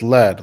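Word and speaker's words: lede: in this word yes lead like the first line of an article it's spelled l-e-d-e therapists and I exchange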